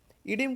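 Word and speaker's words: oedema: देखना, इसमें ध्यान देना, इस शब्द में ओ और ए, जो पहला लेटर है ओ और सबसे लास्ट लेटर ए, दोनों साइलेंट है, इसलिए हम लोग इसको क्या बोलते हैं? इडिम।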